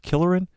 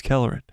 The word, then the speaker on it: Kelleran: killer what's his name killerin killerin killerin kelleran calorin it's kelleran I've been saying it wrong like all day it's Keller calorie